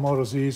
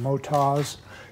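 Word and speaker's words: Motoz: I call them Moto Zs. They're actually called Motas, is the correct pronunciation.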